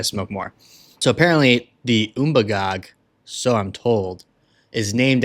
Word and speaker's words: Umbagog: Umbagog is the correct pronunciation. I'm going to call it the Umbagog because it sounds better in my American English accent.